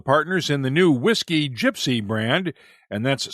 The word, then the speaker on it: Jypsi: On a similar note, country music star Eric Church is one of the partners in the new Whiskey Gypsy brand, and that's spelled JYPSI.